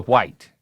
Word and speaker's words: white: No, white. Because you pronounce the H, which is literally silent.